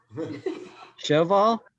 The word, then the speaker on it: Sjöwall: Sjöwall?